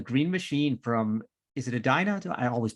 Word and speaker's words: Edina: Team 1816 the green machine from is it a dino I always pronounce this wrong Edina Minnesota Edina Minnesota it's like you never know what the